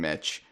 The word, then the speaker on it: Mitch: Now, I'm obviously going to have to buy a Switch pretty damn soon, Mitch. Your name rhymes with Switch.